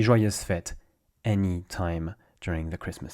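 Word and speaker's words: fête: of France roughly speaking fet fet you have a little Accent on top of the E it's useless when it comes to pronunciation it's one of those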